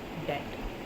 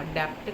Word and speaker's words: debt: होता है कर्जा, DEBT, डेट। डेट का मतलब होता है कर्जा, डेप्ट नहीं कहना है, डेप्ट प्रोनाउंसिएशन बिल्कुल गलत हो जाएगी, हम इसको बोलेंगे डेट।